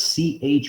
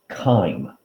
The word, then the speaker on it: chyme: material is spelled as c-h-y-m-e but that c-h is pronounced like a k that is pronounced chyme it's like time with a k chyme so the acidic material